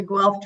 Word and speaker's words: Guelph: easements over tribal land, and how do you pronounce that Ash? - The Guelph treasure.